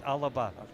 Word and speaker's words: Alba: of alba julia and i've got to be careful when i say alba i don't say alabama it's the scottish version that's a hidden a oh it's it's spelt a lba but you say it allah right he opened one